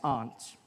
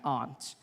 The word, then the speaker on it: aunt: you by for instance i pronounce the opposites of uncle as aunt i say my aunt out here you say my aunt which to me is an insect which made me look